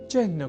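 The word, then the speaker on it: चिह्न: यहां हमने चिन्ह के उच्चारण और लेखन पर दिया है विशेष अवधान। अर्थात चिन्ह में अर्ध हकार के बाद न इस अक्षर का संयोग होता है।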